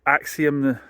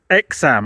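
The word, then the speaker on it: Aixam: would do 55 and axium no it's not axium is it it's it's exam I have checked the pronunciation online I'm showing it wrong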